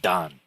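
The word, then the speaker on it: 旦: horizon to character four which means Dawn in Chinese and it's also pronounced Don and then we have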